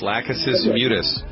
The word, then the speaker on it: Lachesis mutus: Lachesis mutus.